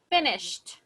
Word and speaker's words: finished: Finished. Listen, finished. One more time. Finished. Explosive. Exactly. It's explosive. It is explosive.